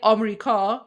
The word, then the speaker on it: America: In English it's America, that's four syllables. But in Persian, we say Amerika, which is three syllables.